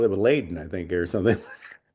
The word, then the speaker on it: Leiden: So they say Leiden or something, and it's Yeah, like they say it was Layden.